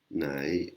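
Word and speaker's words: ใน: Si on ne la met pas, on va avoir le mot nai.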